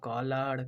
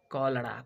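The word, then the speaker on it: cholera: तो कॉलर, कॉलर means, sorry कॉलर नहीं है, कॉलड़ा। कॉलड़ा कॉलड़ा मीन्स क्या हो जाएगा, हैजा। इस पे ध्यान देना, जहाँ पे सी एच है तो किसका उच्चारण हो जाएगा, एक क का आएगा, कलड़ा।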